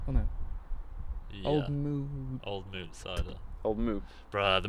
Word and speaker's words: Old Mout: used to think it was Old Mounts, but it ain't. It's It's M-O-U-T. I know Yeah. that, but how do you say that? it's Old Mood.